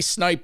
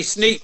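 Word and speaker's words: Sneap: the arms the Andy snipe years when did Andy come on board uh call the Andy sneep you mean Andy sneeve thank you oh my pronunciation is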